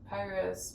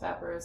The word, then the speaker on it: Papyrus: And also I really like the dude, how how do you say it? Was it like papyrus? Paparus. I don't know. Well, there's no You can say it either way.